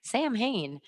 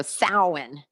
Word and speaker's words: Samhain: where samhain where halloween came from so it's pronounced samhain it looks like samhain which is how i pronounced it for a while because i couldn't remember how my teacher said it so i was like sam hayne um and then finally i figured it out